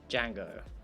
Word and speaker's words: Django: you pronounce it pronunciation Django okay yeah oh there we go rhymes with Fang go bang da Soylent cool